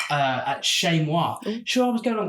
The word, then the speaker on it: Chez Moi: I was like, Chez Moi, where's that? At least you pronounced it right.